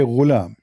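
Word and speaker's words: غلام: Al-ghulam بضم الغين, which mean you say ghulam.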